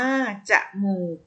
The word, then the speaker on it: จมูก: ว่า อะ หนุ่ย เอา จมูก อ่าน ว่า จมูก เนื้อ หา ที่ นี้